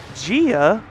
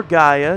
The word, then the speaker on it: Gaia: dragged off to Hades gia or Gaia depending on how you want to pronounce it Gaia the mother earth was